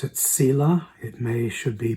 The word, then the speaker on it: Selah: At the end of that line is the word spelled S-E-L-A-H. We used to pronounce it Selah.